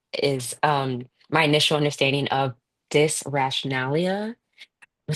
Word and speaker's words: dysrationalia: This is what I do when I don't know how to pronounce a word, I just do this. Oh, dysrationalia. Okay, dysrationalia.